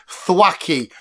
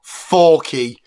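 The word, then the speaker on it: Thwackey: else is f whatever doesn't start with th shut up it's thwacky not thy I did it on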